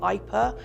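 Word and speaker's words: Ieper: So the town is called Ypres in French, but it's actually a Belgian-speaking town. It's spelled Yper, I-E-P-E-R, and that's where we went to first.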